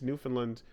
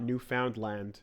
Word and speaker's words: Newfoundland: By the way, PS, Pat, it's Newfoundland, not Newf Found Land.